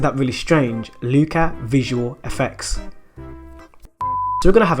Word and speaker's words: Luca Visual FX: Luca Visual VX. Actually pronounce that FX.